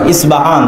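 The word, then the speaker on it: أصبهان: আরবিতে হয় আল আসবাহানি, বা উচ্চারণ হয় ইসবাহান বা আসবাহানি।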